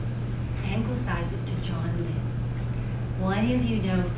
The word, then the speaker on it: Lynn: I did say Lynn. Lynn is spelled L-Y-N-N. It's not spelled Lynn, L-I-N.